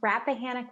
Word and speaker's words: Rappahannock: so thank you again Maggie bloomstrom and it's pronounced Rappahannock Rapidan there are two rivers in our area